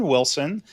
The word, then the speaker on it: Willson: It's pronounced Wilson with two L's.